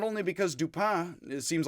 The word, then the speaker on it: Dupin: so do pin and i'm gonna pronounce it do pin because i think poe thought that most of his audience would pronounce it that way and not no and i didn't really uh if it's dupa dupong it's apparently dupa and like duper or a dupa like duper without an n or an r on